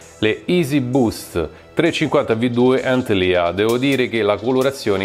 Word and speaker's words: Antlia: Il nickname di questa scarpa, nonché della colorway di questa scarpa sull'etichetta Antilia, si dovrebbe pronunciare in questo modo, letteralmente significa proboscide, però